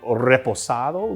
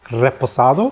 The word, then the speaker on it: reposado: you could also do reposado. Look at how I rolled the R, buddy. Can you even roll your R's? I don't think you can. Try it. Reposado.